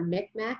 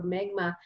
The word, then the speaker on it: Mi'kmaq: Prince Edward Island, so the Mi'kmaq people, or Micmac is what we incorrectly pronounced it before, Mi'kmaq.